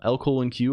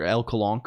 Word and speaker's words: LCOLONQ: LCOLONQ or LCOLONQ. Oh, both of these are fine. There's not really a pronunciation that is canonical.